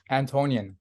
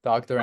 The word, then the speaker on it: Antonyan: So if you could, how do you pronounce it? Sure. Antonyan, Dr. Antonyan.